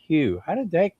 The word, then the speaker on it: Hough: last name is pronounced Hough. So everybody, they come in and comment on some of the shows. They go, who? I said, no, it's not pronounced like who or Hogue. It's Hough.